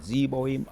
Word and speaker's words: Zeboim: Let's go in and I remember the pronunciations of the Zebo, Admar, and Zo Zohoim. Zeboim, Admma, and Zohar.